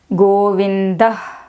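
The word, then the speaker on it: गोविन्दः: This is Govinda is the correct pronunciation. South Indians do it as Govindaha, to some extent acceptable because it makes it clear to the listener. But this has actual pronunciation is Govinda.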